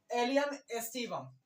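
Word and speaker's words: Allium sativum: अब इसके साथ हम आपको पता ही है कि राइट प्रोनाउंसिएशन में लिख चुके हैं। तो क्या है? एलियम एस्टिवम।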